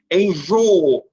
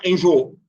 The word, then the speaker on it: enjoo: precisam ser miniatura voo percebam que elas são pronunciadas separadas né enjoo a gente não fala enjôo enjôo abençoo isso quer dizer